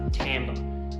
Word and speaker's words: timbre: Now, we spell this timbre, but we actually pronounce it timbre.